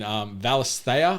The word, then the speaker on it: Valisthea: see what happens in Valisthea, I think is how you pronounce the world this game is set in. It's okay.